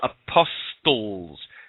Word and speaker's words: apostle: and his twelve apostels have a look at the word apostle's silence t what's the silent T doing in there would that be because